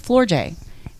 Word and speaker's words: Floortje: Her name is Flor J.